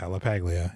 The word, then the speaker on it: LaPaglia: LaPaglia.